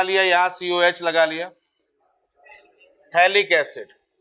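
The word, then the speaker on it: phthalic: ठीक है, पथैलिक लिखते पथैलिक है। अब स्कूल में सकूल थोड़ी बोलते हैं, स्कूल बोलते हैं ना, स्कूल वाला, वही वाला है मामला। तो पी साइलेंट होता है, तो पथैलिक लिखेंगे, पढ़ेंगे थैलिक।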